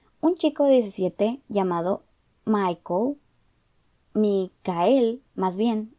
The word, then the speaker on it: Michael: Un chico de 17 llamado Micael, más bien, se escribe Michael, pero él dice Micael y su alias es Mika.